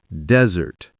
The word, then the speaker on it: desert: Dessert, the sweet dish, is dessert, while desert, a dry, sandy place, is desert.